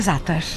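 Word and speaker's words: za'atar: O jeito que fala é zátar. Zátar. Zátar. Às vezes você vê algumas pessoas pronunciando zátar, mas...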